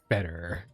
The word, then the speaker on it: Fetter: I tried and I guessed wrong, and therefore it is Fetter.